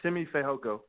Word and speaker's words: Simi Fehoko: get that right yeah yeah i go by simi fayhoka simi fayog thank you thank you have a